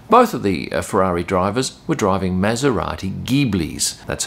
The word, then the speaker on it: Ghibli: Both of the Ferrari drivers were driving Maserati Ghiblis. That's how you pronounce it.